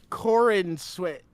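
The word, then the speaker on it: Corenswet: It's like Corin sweat.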